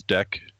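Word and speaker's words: Deque: It's spelled weird, but it's Deck Systems.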